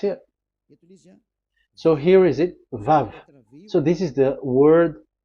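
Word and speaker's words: וו: So the word, the shape Vav is really pronounced V, like Vogue. That is it, pronunciation. So here in this side, it's pronunciation. This is pronunciation. So according to the old Hebrew word today, those who the owner of the words, I mean, so it's a V. So don't change it into W, and you will say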